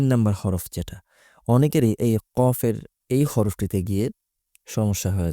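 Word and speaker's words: قاف: কফের উচ্চারণ কাফের মত করে ফেলে। বাংলা বর্ণমালায় ক যেভাবে উচ্চারিত হয় তেমন করে ফেলে। কিন্তু কফের উচ্চারণ কিন্তু বাংলার কর মতো হবে না। একটু গলার গভীরে নিয়ে তারপর উচ্চারণ করতে হবে। কফ কাফ কাফ।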